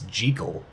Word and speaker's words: Jekyll: One side note here, I do believe that the actual way to say his name is not Jekyll, it's Jekyll. I believe that that's actually the way the name is supposed to be said, but we're just going to say Dr.